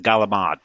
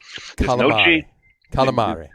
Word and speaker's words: calamari: Italian no no no with the Brooklyn pronunciation of it get it straight tri state area the galamad calamari there's no G there's no D in it an Italian true Italian